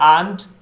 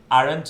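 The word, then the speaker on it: aunt: There आंट, आरंट नहीं बोलते, आंट correct pronunciation.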